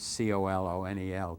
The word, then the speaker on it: colonel: As somebody said, no language is perfect that pronounces C O L O N E L.